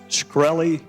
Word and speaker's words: Shkreli: his last name and is it pronounced shkreli yes sir and another one to